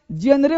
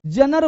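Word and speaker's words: genre: अगला वर्ड देखो, अब देखो क्या भाई, जेनरे बोलूं, जनर बोलूं, जॉनरा बोलूं, जेनरे कुछ लोग इसे जेनरे बोलते हैं, इसको बोलते हैं जॉनर। क्या बोलते हैं, जॉनर, यानी ज को झ का साउंड देना है, जॉनर, जॉनर, जॉनर, जॉनर,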